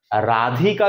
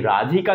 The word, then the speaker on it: রাধিকা: কাজেই রাধিকা থেকে রায় এই রাধিকা শব্দের ধ এর উপর যে শাসাঘাতটা পড়ছে এবং এই ধটা যখন অনুপস্থিত তখন এটাকে মধ্য ব্যঞ্জন লোভ বলছি। রাধিকা শব্দ উচ্চারণ করতে গেলে ধ এর উপর শাসাঘাত করে।